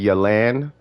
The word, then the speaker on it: Yelan: game play perspective for yolon uh for elon oh and for anybody out there it's actually yelen if you wanted to know i guess the proper way to pronounce it but i'm just call